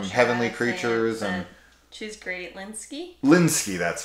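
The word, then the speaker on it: Lynskey: last name from heavenly creatures and she's great linsky linsky that's right she's awesome she's fantastic she's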